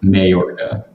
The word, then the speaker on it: Mayorga: right in super excited yeah we've got victor mayorga i said it wrong there you are victor what's going on buddy good good you're saying it's just fine too victor mayorga yes yes i got it right it's okay